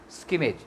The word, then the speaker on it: scrimmage: Skimmage, इसका pronunciation है स्किमेज, SCRIMMAGE, स्किमेज.